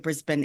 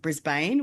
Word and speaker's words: Brisbane: So, uh, unlike the city of Brisbane in uh, America, they pronounce it Brisbane. We pronounce it Brisbane as though there is no vows in the second half of the word.